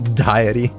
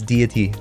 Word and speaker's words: deity: used to say that I used to pronounce that word um diety and then they're like no no no it's deity deity diety you can't speak you're